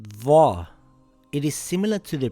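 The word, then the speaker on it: ظاء: It is pronounced similar to the letter dhal, but it is pronounced with a heavy sound, dha.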